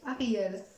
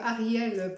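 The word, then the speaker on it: Hariel: Donc Ariel, pour ceux qui veulent, ça s'écrit H-A-R-I-E-L.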